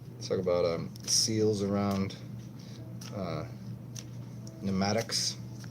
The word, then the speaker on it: pneumatic: about a seals around pneumatics weird how that P is silent pneumatic some talk about Maddux